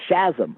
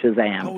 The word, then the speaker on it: Shazam: 1953 I thought that captain Marvel's magic word I pronounced a chasm I never said Shazam interest even though now